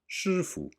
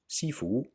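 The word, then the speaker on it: 师父: practice chinese kung fu you should have already heard shufu or its cantonese pronunciation sifu let's get back to the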